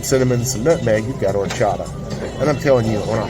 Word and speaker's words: horchata: It's called horchata. It's spelled with an H that you don't pronounce.